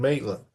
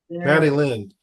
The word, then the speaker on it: Madeline: And Maitland. Maddie Lynn. My name's Madeline. You said it right the second time.